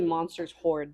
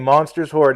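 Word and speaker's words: Monsters Hoard: Oh, the name Monsters Horde and it's spelled weird. Everybody thought hoorde. H O A R D meaning you have a lot of stuff.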